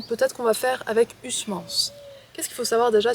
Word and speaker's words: Huysmans: Et donc, ce qu'il faut savoir sur Huysmans, déjà, c'est que on prononce ça Huysmans, et pas Huysman, Huysman, comme je disais avant.